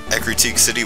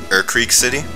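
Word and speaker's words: Ecruteak City: I love when you realize how to actually pronounce names of cities in the Pokemon games. Like, I thought Ekrutik City was called Urkreek City.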